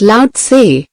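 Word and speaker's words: Lao-tse: That organization one 25 centuries ago, Laay, pronounced loud, a Chinese sage, said some things that readers of this book might use today.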